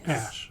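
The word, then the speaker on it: Aesch: And Ash is spelled AE S A S C H. Ash.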